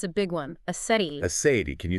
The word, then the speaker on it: aseity: There's a technical term for it in theology, and it's a big one, aseity. Aseity. Can you spell that for us?